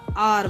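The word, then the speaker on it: hour: और का spelling H ओ यू आर ही है। लेकिन जब हम इसको प्रोनाउंस करते हैं तो आर बोलते हैं।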